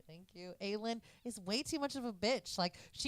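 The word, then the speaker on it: Aelin: Lena is just way too like said her name wrong because the camera say it right. Thank you. Ailen is way too much of a [ __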